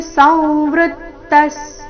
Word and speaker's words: ಸಂವೃತ್ತ: ಮೇಲೆ ಆಘಾತ ಇದಾನಿ ಮಸ್ಮಿ ಸಂವೃತ್ತಸ್ ಸಂವೃತ್ತ ಅನುಸ್ವಾರದ ಉಚ್ಚಾರಣೆ ಈ ಶಬ್ದದಲ್ಲಿ ನಾಸಿಕ ವ ರೀತಿ ಸಂವೃತ್ತ ವೃ ಮೇಲೆ ನೈಸರ್ಗಿಕ ಆಘಾತ ವಿಸರ್ಗದ ಉಚ್ಚಾರಣೆ ಅರ್ಧ ಸ ರೀತಿ ಸಂವೃತ್ತ ಸಚೇತಾಫ್ ವಿಸರ್ಗ ಫ